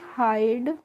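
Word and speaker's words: hide: एच आईडीई है तो इसको हम पढ़ते हैं हाइड हिडे नहीं पढ़ते हैं इसको हम पढ़ते हैं हाइड और इसका रूल भी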